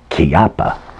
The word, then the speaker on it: Chiappa: that Chiappa little badger then I'm pronouncing it right by the way because it's Italian Chiappa the thing is made in Italy but it's sold by